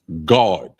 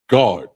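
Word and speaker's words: גד: So the next word is coriander, and it's pronounced God. God, and it's spelled G-A-D. It's spelled like Gad, but it's pronounced God.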